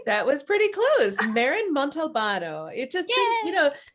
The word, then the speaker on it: Montalbano: Maren Montalbano. It just, think about like just saying it as if you were, in Italy and just like Montalbano, So we are so excited to have you with us today.